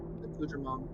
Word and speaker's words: accoutrement: my echo gather Brandor's accoutrement and all that. I think that's how you say it. That is correct. That is a correct pronunciation.